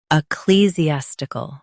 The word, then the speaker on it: ecclesiastical: Ecclesiastical. Stress clee. Keep Z clear and soften the ending stuckle.